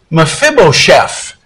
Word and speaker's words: Mephibosheth: We're going to look at a guy whose name was Mephibosheth. That's a big, big word, four syllables.